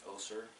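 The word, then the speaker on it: Össur: It's made by a company called Ossur, with two dots above the U. It's an Icelandic company, so I pronounce Ossur.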